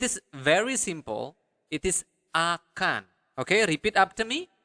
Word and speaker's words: akan: How do you say will in Bahasa? Akan.